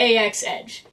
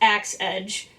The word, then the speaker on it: AX-Edge: MIDI controller is the AX-Edge. And yes, I did learn that it's actually pronounced AX-Edge, and that I've been saying it wrong for like 2 years now.